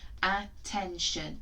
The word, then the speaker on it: attention: Try and blend that together. T, e, n. 10. A, 10. Last chunk. Our sound for today. Can you tell me what it is? Shun. Okay. A, 10, shun. A, 10, shun. One more time. When I push it forward, you're going to blend the syllables together.